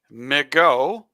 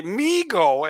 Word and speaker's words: MiGO: You can say MiGO because of Michigan and go. You can say MiGO after what Bob Ufer used to say, Michigan football. Or you can say MiGO because that's where my eyes go.